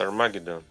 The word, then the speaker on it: Armageddon: How to pronounce Armageddon?